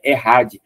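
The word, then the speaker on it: אחד: errad né a Chad escrita tal mas a pronúncia é errad que significa unidade composta Ah mas como Israel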